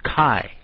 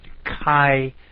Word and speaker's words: chi: some other way but kai is the way it should be pronounced so I'm trying to